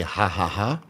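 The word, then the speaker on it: ห้า: In Thailand, if you see three times five, they say haha. That's slang for haha because five you pronounce as ha.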